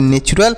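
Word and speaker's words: natural: तो इसे पढ़ेंगे नेचुरल, और नेचुरल मतलब होता है प्राकृतिक। समझ में आया प्यारे साथियों। तो इसे आपको नेचुरल नहीं पढ़ना है। यहाँ पर टी का उच्चारण जो होगा यह च के रूप में किया जाएगा। किसके रूप में, च के रूप में। यानी TU को हम क्या पढ़ेंगे, च पढ़ेंगे। तो याद रखिएगा, इसे ट नहीं च पढ़ेंगे।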